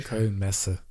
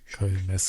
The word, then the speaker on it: Köln Messe: Can I just get a pronunciation check on the Köln Messe there, Alex? Was it okay? Köln Messe. Köln Messe.